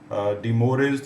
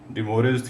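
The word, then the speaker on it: De Moivre: आप लिख सकते हैं तो हम अपनी आसानी के लिए इसे फ्रेंच में प्रोनाउंस नहीं करेंगे हम इसको डि मोरेज थ्योरम ही प्रोनाउंस किया करेंगे इसके बेटे दो और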